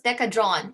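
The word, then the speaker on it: Decadron: one is pronounced as deca drawn it doesn't have an e at the end so we don't pronounce it like a drone the cajon okay and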